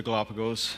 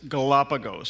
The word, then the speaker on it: Galapagos: And it's Galapagos. That's the correct way to say it, I think.